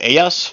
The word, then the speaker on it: Ayas: Is it Ayas? Is that how you say it? Yes. Okay, I'm probably gonna butcher that several times before we're done. Hold on. Was it Ayas or was it yes? It's like ass.